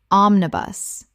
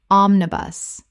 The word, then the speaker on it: omnibus: Omnibus. Correct pronunciation. Omnibus. 3 syllables with the stress on the first, same as the bus.